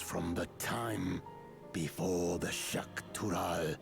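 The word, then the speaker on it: Xak Tural: the time before the Shak tural shakal is how they pronounce that so they pronounce X's as a sh sound that's good to know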